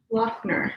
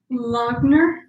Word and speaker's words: Loughner: It's like it stops there. Loughner. Who knows? Yeah, it's a silent H. Loughner.